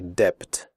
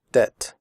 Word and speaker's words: debt: In the word debt, the b is silent. We do not say debt. We say debt.